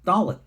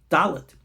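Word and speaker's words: דלת: The next one is the letter Dalet. This gets important. Dalet D. But the other pronunciation of a Dalet is like a TH in the word the.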